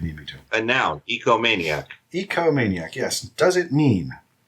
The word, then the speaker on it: ecomaniac: It is ecomaniac. Not egomaniac, but ecomaniac.